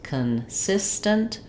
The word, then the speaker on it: consistent: And lastly, the word consistent, second syllable stress, consistent.